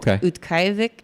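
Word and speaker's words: Utqiaġvik: It was unusually warm when we were in Barrow, or Utqiagvik, I think is how you say it, which is actually what the name is now.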